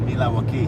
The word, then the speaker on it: Milwaukee: I'm from Milwaukee. Pronounced Milawaki.